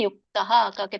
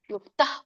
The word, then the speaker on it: ಯುಕ್ತ: ಉಚ್ಚಾರಣೆ ಹೇಗೆ ಮಾಡೋದು ಅಂದ್ರೆ ಯುಕ್ತಹಕೆ ತವತ್ತಿದೆ ಅಲ್ಲಿ ವಿಸರ್ಗ ಇದೆ ಯುಕ್ತ ಯುಕ್ತ ಪೂರ್ಣ ಯುಕ್ತಹ ಅನ್ಬೇಡಿ ಯುಕ್ತ ಅನ್ಬೇಕು ಕರ್ಮ ಫಲಂ ಅದು ಫಲಂ